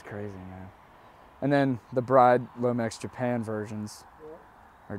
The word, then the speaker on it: Bride: I've also heard that apparently it's pronounced Brid. That's what I've heard. Is yeah, it? Yeah. Okay. Apparently it's pronounced Brid. So I did not know that up until like a month ago.